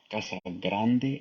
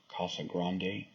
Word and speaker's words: Casa Grande: Flack because she was pronouncing the names of some of the cities in Arizona correctly as they are Hispanic names such as Mesa Arizona instead of Mesa others are that's like a grande oh sorry Casa Grande instead of Casa Grande there are others